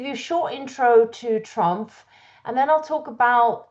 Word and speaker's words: TRUMPF: So um Trump is a 100year-old family company. Please remember to pronounce the F.